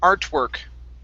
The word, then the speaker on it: artwork: Artwork. Artwork. Okay, now with the OR, this is going to be an ER sound as well.